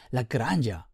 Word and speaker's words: Lagrange: Just by the way, I recently learned that the guy who this point is named after was actually Italian, so maybe a more correct pronunciation would be Lagrangia.